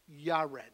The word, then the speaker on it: Jared: And actually, Jared is actually in Hebrew pronounced Yared. All righty. So we see like Jehovah is Jehovah. Alrighty. You have that J sound is actually a Y sound.